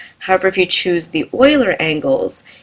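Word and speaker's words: Euler: believe you pronounce it Oiler angles it looks like it's uler but it's I think the correct pronunciation is Oiler so querian what it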